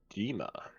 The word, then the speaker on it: Dima: So, Dima, is that how you say it?